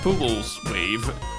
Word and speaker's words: pUwUlsewave: you by pools with how do you pronounce it it's a pool's wave we're a brand new